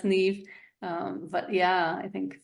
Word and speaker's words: Niamh: is spelled ni M it's an Irish name pronounced NE um but yeah I think Facebook is I'll